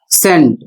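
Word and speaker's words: scent: जिसका उच्चारण है सैंड।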